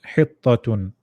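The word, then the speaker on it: حطة: The word at the end, what the how do you pronounce the one at the end? Tu or tun? Tun. Tun. Hittatun.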